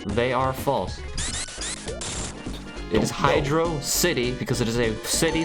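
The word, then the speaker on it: Hydrocity: you're actually falls hydrosity like it just sounds dumb like why would you pronounce it like that I don't know it's a city underwater it should be Hydro City damn it it's only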